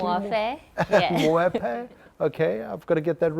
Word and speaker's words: Muofhe: And I think it's most apt in our first one of this series is that we have Mulanga Muofhe, am I pronouncing it correctly? Muofhe, yeah.